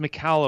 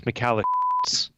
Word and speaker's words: Michalowicz: your last name yes oh it's pronounced McHale oh it's but if you're an old high school friend of mine it's McAllen so occasionally people will shout